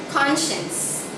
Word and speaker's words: conscience: our third word okay this is very difficult to pronounce but I hope you can get it conscience not conscience but conscience okay so let's focus